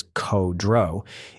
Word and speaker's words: Kudrow: Their boss, Lieutenant Colonel Nick Kudrow, spelled out phonetically as Ko-Dro, is overseas in Bangkok at the time, briefing senior officials on a security plan.